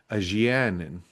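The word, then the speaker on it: Nynaeve: Oh, my mom sent me the the pronunciation from the actual audio books. It was by by Rosalyn Pike was aanin.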